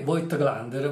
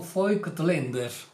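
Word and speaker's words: Voigtländer: a proposito di pronuncia la consonante V in tedesco si chiama Fau e si pronuncia generalmente come una F la vocale a si legge come una e quindi il nome vo glander va letto fo Lander Eh quindi se volete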